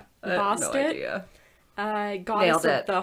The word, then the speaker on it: Bastet: That one messed me up because it's Bastet.